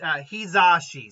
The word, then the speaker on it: Hizashi: Does someone bring up the, and by the way, it's Hizashi. Someone basically helped me with the pronunciation on that.